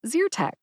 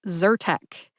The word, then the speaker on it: Zyrtec: Zer instead of zertek I learned it as zerch if you say zerch to you're in good